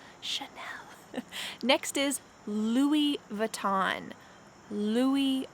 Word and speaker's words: Chanel: next is chanel chanel don't be fooled this word has a ch but we don't say ch it sounds like be quiet chanel chanel next is louis vuitton